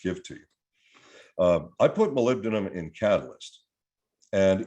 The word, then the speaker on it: molybdenum: you how many people look at they go molly baby what is that okay molybdenum is how it's pronounced molybdenum is a trace mineral which is vitally important